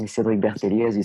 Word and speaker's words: Cedric Bertelli: We've got Cedric Bertelli. I've been told that is the correct pronunciation, so it is.